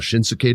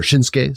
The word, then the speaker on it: Shinsuke: so cool they allowed shinuk to do that or shinsuke sorry for adding the extra s syllable but I really like